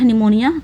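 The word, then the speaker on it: pneumonia: यहां पर correct incorrect निमोनिया कैसे याद करेंगे तो प निमोनिया में पी आता है बस वह बोलने में साइलेंट रहता है कैसे याद करेंगे सबसे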